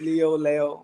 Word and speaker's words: Leal: Like, you know, it's like Lee, but they wanted to make it more Spanish, so it's like Leo. And so not Leal, like some of these people. I heard people butcher the name Leal. No, Angelo Leal. It's not Leal. It's Leo, whichever one.